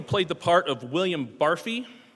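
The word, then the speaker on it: Barfée: 1 of you played the part of William Barfy, or maybe it's pronounced Barfay, in your school's production of the 25th annual Putnam County Spelling Bee.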